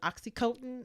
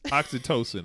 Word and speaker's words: oxytocin: produces a hormone with oxy cope oxytocin oxytocin oxytocin is how you pronounce it yeah and it promotes